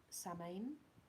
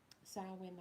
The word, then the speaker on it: Samhain: was pronounced same or same when you look at it but it's an irish word and the irish language like welsh is phonetically nonsensical to an english speaker so it's pronounced sound sourwin i think it's also